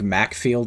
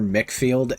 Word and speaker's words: McField: also if you don't if it sounds weird if I'm saying like macfield or mickfield it's technically both his name in the Japanese version is spelled out as macfield but his English name is mickfield his name is Dennis